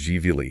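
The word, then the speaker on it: Gvili: It's pronounced jvi.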